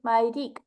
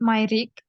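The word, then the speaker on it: մայրիկ: We just say Mayrik. So, for example, Astghik, gentler way. As for father, it's Haid, you pronounced it perfectly, or Haidik.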